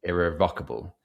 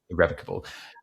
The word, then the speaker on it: irrevocable: I think the word was irrevocable, but I said irrevocable, and they said, oh, the stress is on the first sort of the rev. Yeah, irrevocable, and I was like, oh, I didn't know that.